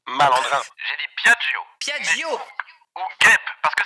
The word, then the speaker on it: Piaggio: Piaccio. Pardon? Je vais dire guêpe. Guêpe. Ce n'est pas le mot que vous avez prononcé, malandrin. J'ai dit Piaggio.